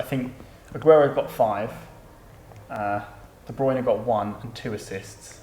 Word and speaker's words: De Bruyne: name of a video with the player specifically pronouncing their name Kevin De bruyne that's it let's move on De bruyne Silva